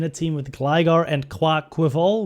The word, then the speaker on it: Quaquaval: team with Gligar and Clark quiver which is apparently the correct pronunciation and this is not